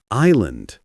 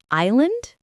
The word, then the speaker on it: island: Island. I know this one. You don't say the S. It's island. Right. Exactly. Island, not is land.